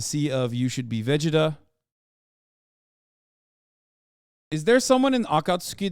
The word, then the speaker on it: Vegeta: character in Akatsuki that that yes I said Vegeta that's the right way to say it I